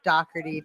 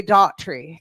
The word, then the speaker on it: Dougherty: Now, I was kind of a crapshoot and I heard myself calling myself Dockerty today. That is the original way to say my name. Um, uh, in Virginia they say Dory, Dory, which is very pretty. That's a pretty way, but Dockerty is kind of my home state.